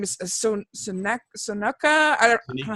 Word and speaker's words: Sonequa: Her name is Sonoka. I don't know how you say her name. Sonequa Martin Green.